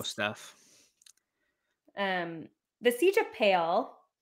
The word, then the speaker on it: Pale: The Siege of Pale pronounce it as Pella excuse you no it's pale p-a-l-e right it has to be pale I've even heard like Philip say pale I think like I'm sticking with pale um are we talking